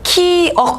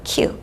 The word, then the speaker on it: 키읔: 키억 아니고요. 키읔이라고 읽어요. 키읔. 키읔.